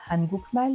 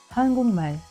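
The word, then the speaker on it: 한국말: Eh bien, en effet, il ne se prononce pas hangukmal, mais hangukmal.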